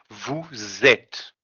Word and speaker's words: vous êtes: end of the word, we are gonna pronounce the S in the end of the word when we're gonna have a vowel in the next word. Okay. For example, here it ends with an S and ed start with an E. So what we're gonna do? We're gonna link those two when we're gonna pronounce them. Okay? So instead of saying vous êtes, not été, okay? We're gonna say vous êtes.